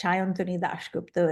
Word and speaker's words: Sayantani DasGupta: If you speak Bengali, that's Sayantani DasGupta is how you would pronounce it.